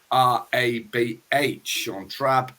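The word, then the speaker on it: Seantrabh: little late season two-year-old so sean trab i'll spell that s-e-a-n-t-r-a-b-h shawn trab declan carroll sure fire winner that's my first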